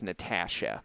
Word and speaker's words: Natasha: And I'm still struggling to pronounce the right word the right way, but it's Natasha.